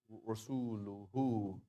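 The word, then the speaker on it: رسولهُ: So therefore, I'm going to pronounce the ha as if it was ha dhamma wow. Rasuluhu. Rasuluhu. Right. I'm going to add a wow.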